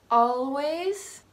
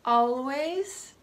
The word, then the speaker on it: always: almond like the nut the last four have an L that comes after an a and again in order to sound more formal I recommend pronouncing it subtly always all right already although